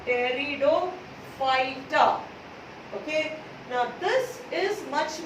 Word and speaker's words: Pteridophyta: Pteridophyta. This P is silent over here, no? Pteridophyta.